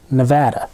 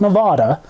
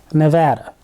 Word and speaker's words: Nevada: escape even further west to the escapade of Nevada and yes that is how you pronounce it Nevada not Nevada Nevada get it right people during that Escapade it